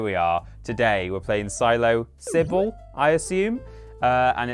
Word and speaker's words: PsiloSybil: that's the thing the the s in the middle is uppercase because it's Sybil which is also a name but then presumably it's pronounced Silo Sybil rather than the silos Cy bill because Cybil isn't a